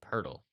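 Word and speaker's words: Poeltl: player in the nba whose name is jakob pertl oh it's spelled p-o-e-l-t-l so the website is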